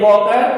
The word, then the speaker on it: Walker: See, here it is written, the name of a Wave Walker, we can say Wave Walker, L is silent, Wave Walker, the west coast of Africa to Cape Town.